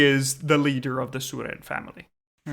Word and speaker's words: Suren: It's spelled as you say it. Suren.